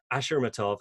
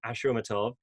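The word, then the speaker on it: Ashurmatov: by goo seongyeon but ashuramatov should have practiced how to pronounce that name i think it's ashwamatov he was the quickest to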